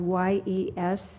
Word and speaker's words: Yesenia: Yensia's first name is spelled Y-E-S-E-N-I-A. Yesenia is probably the right pronunciation.